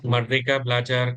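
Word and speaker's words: Merdeka Belajar: It is Mika Blajar campus mka.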